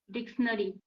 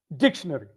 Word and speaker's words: dictionary: emphasis on DIC, dictionary.